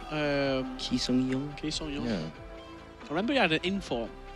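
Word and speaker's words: Ki Sung-yueng: Is it Key? Is it how you pronounce his name, the man from Swansea? It is, yeah. Ki Sung-young.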